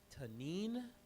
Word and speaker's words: tanin: in not Greek Hebrew a lot it's called tanine need to know that word tanine t a